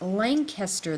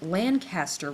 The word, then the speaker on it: Lancaster: pronounce a city ask it's lanaster the city and Lancaster when it's a street remember it's gross